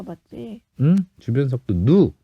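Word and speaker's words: ν: 주변 속도 누. 누. V로 읽어도 되는데 응. 원래는 그리스 소문자 누니까 응. 누라고 해.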